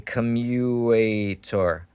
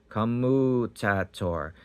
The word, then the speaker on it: commutator: A commuator. Commuator. It turns people into commies. Commuator. Not a communicator. Commutator. No, commutator.